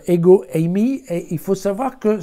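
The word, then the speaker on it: ἐγώ εἰμι: c'est moi alors le c'est moi en grec ça se prononce ego Amy et il faut savoir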